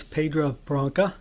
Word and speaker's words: Pedra Branca: So let's talk about your newest acquisition, and that's Pedra Branca. Did I pronounce that right?